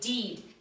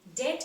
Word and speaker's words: dead: ahead for goodness sake don't call it deed dead cannot be pronounced like deed the spelling of d